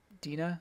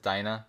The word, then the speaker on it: Dina: his uh first wife dina is that her name uh dino or dinah i think i think the anime pronounced it dinah but gotcha dinah uh